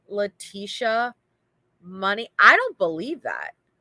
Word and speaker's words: Letecia: And then, anyway, so the other girl, her name is Leticia, spelled the same way, but it's like they say like Spanish Leticia.